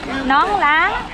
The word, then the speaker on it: nón lá: Nón lá. Nong na. I don't think I can pronounce anything right.